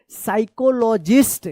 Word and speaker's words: psychologist: ये P silent वाला है। साइकोलॉजिस्ट, क्या पढ़ेंगे?